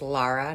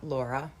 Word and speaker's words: Laura: My name is Lara, not Laura. I tell people that all the time. But it's spelled Laura.